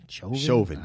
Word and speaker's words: Chauvin: Oh, Chauvin? Chauvin. Well, the guy that killed George Floyd, his wife left him. She filed for divorce. Are we cool with that? We don't like Chauvin, but do we think his wife should have left?